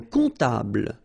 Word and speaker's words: comptable: Un comptable, so OM, remember, it goes like on, all right? And then, strangely, this P is not pronounced. Un comptable, all right?